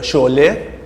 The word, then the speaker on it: Sholay: Yeah, it's called Sholay, because Iranian, that's how we speak.